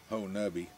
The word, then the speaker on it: Honobia: woods so they say there's a town called honi which is spelled honobia but somehow it come to be pronounced Hui but they actually have a Bigfoot Festival every